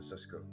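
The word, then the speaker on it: Šeško: I add uh Benjamin cesco uh I'm sorry the Slovenian benteke and Brahim Diaz I I still think that Benjamin Cisco is a much better that's actually how you pronounce it yeah I I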